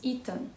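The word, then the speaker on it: Itan: Esse nome, na forma americana de escrever, ele não escreve desse jeito, mas se pronuncia do mesmo jeito.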